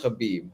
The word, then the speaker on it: Khabib: Where the fuck is I'm thinking of Khabib. Well, it's pronounced Habib.